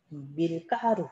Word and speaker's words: 밀가루: 자, 다음 밀가루. 얘도 된소리가 일어나는 이유가 이 가루가 밀에서 온 거야. 밀이라고 하는 기원이 있기 때문에 밀가루 이렇게 된소리가 일어납니다.